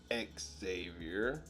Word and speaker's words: Xavier: Charles Xavier I'm sorry I know he likes to pronounce it X Xavier Charles X Xavier Xmen and the Brotherhood